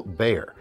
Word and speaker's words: Bexar: We've got a new version of the Tactile Bear, pronounced or spelled Bexar.